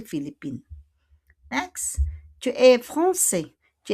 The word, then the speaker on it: Philippines: But we don't pronounce the S, de Philippines.